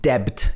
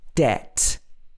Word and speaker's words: debt: say i doubt it debt is another common one it's not debt it's debt debt so you can see in the pronunciation guide it's just d-e-t that have you got